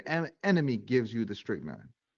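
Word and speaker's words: strychnine: S T R Y C H N I N E. Yeah, strick nine.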